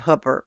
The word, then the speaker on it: Hooper: Now out here in Hooper, where I live, Hooper rhymes with hooker.